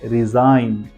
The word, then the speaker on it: resign: Second word है रिजाइन, RESIGN। देख सकते हो आप, जी के बाद एन है। उसके बाद डिजाइन, यहाँ पर भी जी के बाद एन है, रिजाइन, जी को बिल्कुल भी प्रोनाउंसिएशन नहीं किया है।